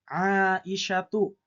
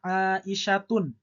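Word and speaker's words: عائشةُ: Contohnya adalah Fatimatu aisyatu ya itu berakhiran ta marbutah. Nah maka ee ini adalah isim gir munsarif. Tidak boleh kita membacanya misalnya aisyatun tun ya dengan tanwin itu tidak boleh. Tapi Aisyatu Fatimatu.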